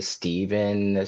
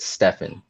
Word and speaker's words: Stefan: see people see my see my name and say Steven Stefan which is fine because those are all you know but I pronounce it Stefan yeah so I think